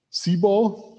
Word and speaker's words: CBOR: and it's binary so how do you pronounce this c ball and what is the